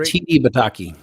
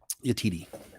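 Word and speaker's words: Yetide Badaki: Yatiti Bataki. Thank you. The actress that played Nira, Latiti. I'm not gonna be able to pronounce that name. You just heard him say it. Yatiti.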